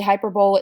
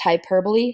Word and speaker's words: hyperbole: hyper means extreme so hyperbole some people say hyperbole it's pronounced hyperbole hyper bowl is how you spell it extreme